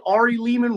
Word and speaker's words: Ari Lehman: hey everybody it's me Ari Leman rhymes with demon the boy in the